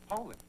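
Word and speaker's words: Poulan: So, when you're looking for a tough, dependable chainsaw, look for a dealer that sells Poulin.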